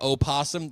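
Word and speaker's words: opossum: You know, my favorite bug to eat since I am in fact a Virginia opsum. The O is there in typing, but not when you uh pronounce it.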